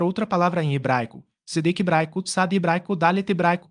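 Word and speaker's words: צדק: Após as 3 noites de escrita com açúcar e sal, e antes de queimar o papel, deve-se pronunciar outra palavra em hebraico, Sedek hebraico, Tsad hebraico, Dalet hebraico, Kuv, que significa justiça ou equilíbrio.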